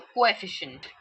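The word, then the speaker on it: coefficient: कोई भी इसको कोफिशिएंट नहीं बोलेगा please. C यू can break it एस को एंड एफिशिएंट। सो कोफिशिएंट।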